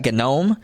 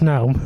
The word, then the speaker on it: GNOME: some people pronounce that genome and some people pronounce it no I know it's pronounced no yeah G is silent yeah well some people